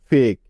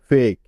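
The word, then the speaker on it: fake: যেমন ফেক এফ এ কে ই ফেক। এখানে ফতে এফ তে ফ। এতে এ আর কে ই জাস্ট ক হবে। কারণ ই এখানে সাইলেন্ট থাকবে।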